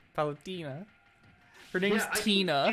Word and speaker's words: Palutena: he was like, yeah, and they still call her Paltina. Palutina. Her name's Yeah, Tina. I can excuse mispronouncing characters if there's no official source that tells you how to pronounce it.